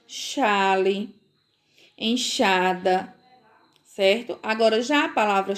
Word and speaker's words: enxada: Elas têm o som do CH, tá certo? Então, quando eu leio caixa, peixe, xarope, enxada, estão ouvindo a pronúncia? É uma pronúncia muito, muito parecida com a pronúncia do CH.